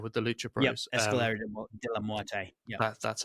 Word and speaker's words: Escalera de la Muerte: Escalera de la Muerte.